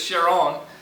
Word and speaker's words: Charon: wife's name was Sharon which you can pronounce this Sharon and so it's very similar to that so they thought oh